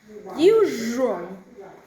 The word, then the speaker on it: usual: Many non-natives mispronounce this word with the sound, especially the word usual and unusual. Very common to pronounce this usual, unusual, unusual, usual. Three syllables.